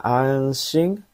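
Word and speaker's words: 安心: Yombang anshin.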